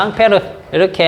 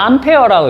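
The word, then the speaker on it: Ampère: 어 프랑스 사람이니까 앙페르 이렇게 하지만 어 그걸 단위로 할 때 이건 어떻게 읽습니까? 암어 암페어라고 읽죠.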